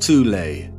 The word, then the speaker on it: Thule: called the soul society sometimes alternatively pronounced tulay that had sub-factions within